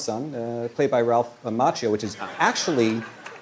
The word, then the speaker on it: Macchio: Daniel's son uh played by Ralph Macchio, which is actually the Italian may pronounce Macchio, but I believe he pronounces it Macchio, and I'll respect his decision.